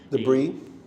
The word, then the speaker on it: debris: Telescopes on the station could detect tiny pieces of debris. Debris. Yeah, no S. The S is silent.